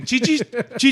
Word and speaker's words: Qi: Qi Qi targeting Chi it's not it's not cui it's like Chi or something I forgot